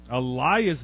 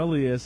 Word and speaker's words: Elias: or ooso so Al Elias Dyson it's not Alias I talked to his father we were pronouncing that wrong all year last year